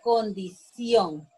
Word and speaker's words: condición: Condición es una palabra aguda porque la sílaba tónica la tiene en ción y además lleva tilde.